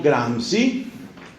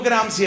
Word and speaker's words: Gramsci: ideólogo de izquierda italiano llamado antonio gramsci se escribe que era a m sc y msc i grans éste antonio gran si se da cuenta de